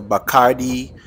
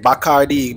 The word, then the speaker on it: Bacardi: Next, we have the Bacardi rum tour. I'm saying Bacardi because that's the way they pronounced it. But this is the Bacardi rum tour.